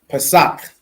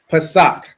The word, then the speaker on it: Pesach: Pesach. Excellent, right? Pesach, which means Passover in the Hebrew.